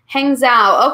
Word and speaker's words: Hangzhou: Hangzhou. Okay, very good, Wing Ying. Thank you so much for telling me how to pronounce that. There's a silent G.